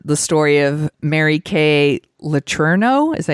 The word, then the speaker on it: Letourneau: But this movie's loosely based on the story of Mary Kay Letourneau. Is that how you pronounce it?